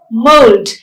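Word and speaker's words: mould: tlk talk w-a-l-k walk but you have words like m-o-u-l-d mold there the le is not silent that's why i said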